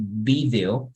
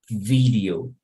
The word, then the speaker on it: video: pronounce the same right so if you pronounce the V in English like you do in in Spanish you pronounce like V vaka okay so the same thing in English here we wouldn't say video you would say video and there are many